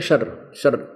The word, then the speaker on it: क्षर: क्षर अक्षर, क्षर इसको वैसे उच्चारण करते हैं शर, लेकिन हम समझाने के लिए इसको देसी भाषा में बोला, अपने संत भाषा में, क्षर पुरुष और अक्षर पुरुष।